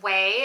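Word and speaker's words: Ouai: I think it's pronounced Weey.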